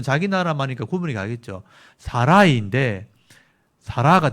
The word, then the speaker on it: 사라이: 또 여기 사라는 사레라고 돼 있는데 원래이 사라의 발음은 히브리 원어에는 사라이예요. 사라이. 사라이 이게 원래 이름이에요. 근데 사레라고 한글에 써 놓은 거예요.이 히브리어로 써 놨잖아요.